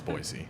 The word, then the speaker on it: Boise: Boise, by the way, for people that aren't living in Idaho, it's Boise.